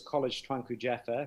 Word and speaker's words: Kolej Tuanku Ja'afar: so the the name of the school was college twanku jeffer which means king jaffa college uh jaffa was